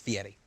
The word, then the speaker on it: Fieri: He's like Guy Fieri, who like, if you call him Guy Fieri, he's like, it's Fieri.